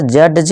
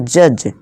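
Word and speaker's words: judge: इस तरह जज नहीं, जज, जज।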